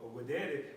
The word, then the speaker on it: videre: All right, with the V, but it's pronounced videre, which means to see.